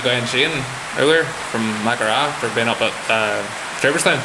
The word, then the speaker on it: Maghera: Mahara? Mahara? What did I say? Maghera. Mahara? We say it, so you pronounce it GH, whereas we say GH. So we go, we say it throatly. Alright, okay.